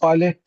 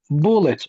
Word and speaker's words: bullet: Bu balet, buna balet demeyin yani balet, yani bullet okunur.